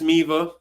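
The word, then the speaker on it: Miele: I keep wanting to type it the way it sounds, but it's spelled completely different than what it sounds. This is Miva.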